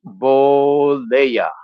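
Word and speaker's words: Bollea: it's Hulk Hogan man is pronounced boa okay yeah I don't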